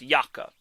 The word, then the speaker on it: Jakob: I just need to make a point that Jakob Silverberg's first name is not pronounced Jacob. It's pronounced Jakob.